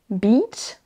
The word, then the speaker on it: beach: Vous utilisez le mauvais I entre beach, la plage, et bitch, qui a là aussi une insulte. On a exactement la même chose. Sheet, beach, là vous entendez, c'est un I long.